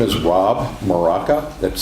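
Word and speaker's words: Mrowka: Hello, my name is Rob Maraca. That's spelled M-R-O-W-K-A.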